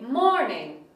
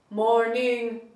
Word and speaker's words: morning: For example, if I have the word morning, the first syllable is stronger and louder than the second one. We say morning, not morning or morning.